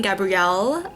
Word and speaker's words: Gabriel: Right, the neighbor's name is Gabrielle. It's not Gabriel. They pronounce it Gabrielle in the show.